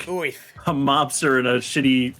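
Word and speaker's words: Oerth: Somebody said that Gary Gygax's original pronunciation of that word is Oith. He says it's just like Orth.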